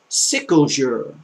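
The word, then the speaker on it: quel jour: Sickle jour. No, not you. You're not telling people you're sick. But what day is it? Sicklejour. Sicklejour. You know, like a sickle that you sickle grass with?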